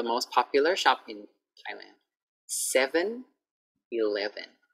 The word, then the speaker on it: 7-Eleven: 7-Eleven. 7-Eleven. So I don't want to hear like, oh, I go to 7. No. I'm going to 7-Eleven. Okay, so practice the sound.